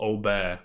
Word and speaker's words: Aubert: Former Senior EMEA, Blizzard Delphine Lacour, and EMEA Director at Blizzard Emmanuel Aubert. I'm assuming the T is silent because it sounds as if Emmanuel is of French descent.